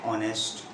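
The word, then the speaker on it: honest: जैसे कि an umbrella, an ऑनेस्ट, an umbrella, an ऑनेस्ट, ये जो है एच यहाँ पे साइलेंट है तो इसलिए जो है वॉवल की साउंड आ रही है ओ की।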